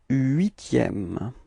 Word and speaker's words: huitième: Le huitième. Repeat. Le huitième. Okay, as usual, the first H is not pronounced.